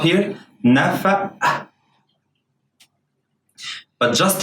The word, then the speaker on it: نفق: Here's the cough is pronounced like a glottal stop. O. قطة. نفق. نفق. It's a glottal stop here. نفق.